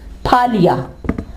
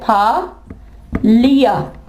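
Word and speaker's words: Phalia: इसकी एग्जांपल है फालिया। मंडी बहााउद्दीन का एक सिटी है फाया।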